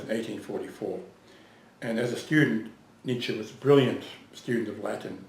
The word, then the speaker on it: Nietzsche: name you just break nietzsche into two parts needs and the first part rhymes with beats the second part sounds like shell without the hole but the pronunciation of